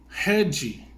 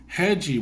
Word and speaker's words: Rede: came across the company hedgy it's it's not pronounced the way you were pronounced in English but they were pronouncing heji which is a payment